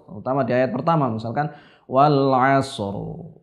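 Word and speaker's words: والعصر: Begitu juga pada surat Al-Asr, terutama di ayat pertama misalkan wal asr. Banyak orang bacanya wal asr. Seperti ini saja. Ro-nya terdengar tipis, padahal seharusnya dalam keadaan-keadaan ini huruf ro dibaca dengan tebal.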